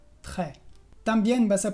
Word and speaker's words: très: Sí, por ejemplo, en las palabras très, que es muy, o près, que es cerca. Como lo ves, la S es muda y yo pronuncio près, très.